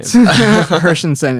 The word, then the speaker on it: Hershenson: Sorry if I butchered your last name. Hershenson, it's all good.